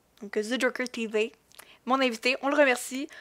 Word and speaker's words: Zejockertv: Non, ça s'écrit vraiment The Joker. Il n'y a pas de... Non, c'est vraiment pour le prononcer à la française. Donc, The Joker TV.